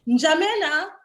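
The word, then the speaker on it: N'Djamena: So Njamena, the N is silent.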